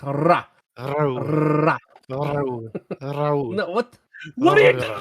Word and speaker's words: Rahul: Rahul, that's how you roll your R. Rahul. There you go. Rahul. No, you do it from the back of your throat.